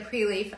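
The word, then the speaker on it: Prelief: Um, the Preleaf, I'm going to spell that. It's P R E L I E F. So, it's pre-leaf.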